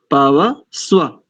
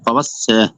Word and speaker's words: पवस्व: पवस, पवस को अलग करो और वा को अलग करो। पवस वा, पवस वा, पवस वा। पवस, पवस, या नहीं, वा।